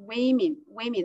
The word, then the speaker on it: women: But when it is a plural form of woman, it pronounced we. Yeah, so I think you need to pay attention to women, not women.